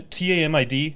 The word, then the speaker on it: TAMID: There's one, TAMID. How do you pronounce that?